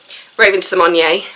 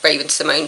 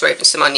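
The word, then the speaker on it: Raven-Symoné: that see it does Raven Symone as we now know her name is pronounced after years of just letting people call her or call her Raven Simone she's admitted that actually it's pronounced Raven Symone and I think that's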